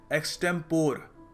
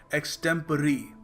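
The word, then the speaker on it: extempore: को आता नहीं है काफी लोग इस शब्द को प्रोनाउंस करते हैं एक्टेंपोर जो दिखने में लगता भी है थोड़ा कंफ्यूजन हो सकता है मगर सही तरीका इसको प्रोनाउंस करने का है एक्सटेप एक्सटेप जी हां तो याद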